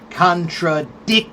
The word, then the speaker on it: contradiction: before the shun tradition contradiction ction, right? So, contradiction is four syllables, but the accent is right before the shun, right? Contradiction.